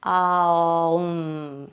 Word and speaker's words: Om: So we would pronounce the Om kind of like A-U-M. Om. So there's 3 kind of sounds to it. The way I do that tends to be like a little scooping sound.